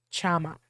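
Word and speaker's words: שמע: Y sabes qué, Javier, la obediencia, cuando nosotros buscamos el significado en hebreo, la palabra se pronuncia chama. Chama.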